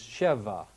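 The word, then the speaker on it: שֶׁבַע: comes originally from the word 7 which is Sheva Sheva is now given some different vowels and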